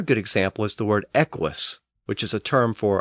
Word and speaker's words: equus: example is the word equus, which is a term for a class of animals, including horses and zebras. It's spelled E-Q-U-U-S, but the first U is often pronounced as a W or W sound, so it's equus.